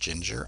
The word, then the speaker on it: Jinjer: I think it's pronounced Ginger, I don't know.